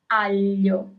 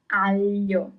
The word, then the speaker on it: aglio: Okay, so the second word is aglio. Aglio. Garlic. Aglio. Rabbit is coniglio. So here you have G-L-I at the end.